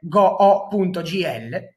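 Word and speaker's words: goo.gl: offerto da Google è go.gl, provate a pronunciarlo, vedrete che si pronuncia e si ascolta come Google.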